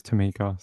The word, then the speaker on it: Tamika: So it is Tamika. Sorry. Her name's sort of spelled with a, yeah. All right. That's how it's pronounced.